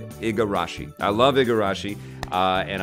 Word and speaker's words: Igarashi: I love Koji I always forget his last name wrong it's Igarashi I love the garage and I am a